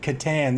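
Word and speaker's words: Cathan: at cuddy the cat catan that's a silent h the britonian blitzer he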